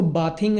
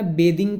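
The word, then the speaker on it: bathing: इसको बाथिंग नहीं कहना, बेदिंग कहेंगे। बाथिंग कहते हैं हमारी इंडियन इंग्लिश में, लेकिन हम लोग इसको बेदिंग कहेंगे। सही प्रोनाउंसिएशन जो है वो बेदिंग है, ठीक है।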